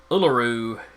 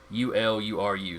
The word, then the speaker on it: Uluru: the pronunciation here uh uluru u l u r u so i think it's uluru uh is the actual aboriginal name for it uh airs rock was